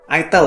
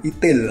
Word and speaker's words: itel: Itel ya bacanya ya, bukan Itel atau Itil.